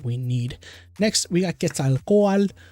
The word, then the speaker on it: Quetzalcoatl: need next we got quetzalcoatl for anybody wondering how to pronounce it's quetzalcoal i think i saw